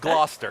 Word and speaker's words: Gloucester: I've practiced Gloucester. It is Gloucester. It is Gloucester.